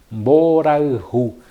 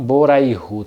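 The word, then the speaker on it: mborayhu: Mboraihu quer dizer amor. Mboraihu. não Boraihu. Tem pessoas que pronunciam errado, falam Boraihu e não, é Boraihu.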